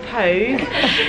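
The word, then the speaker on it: Póg: We've come to Pog, which is actually pronounced Pogue. It means kiss in Gaelic.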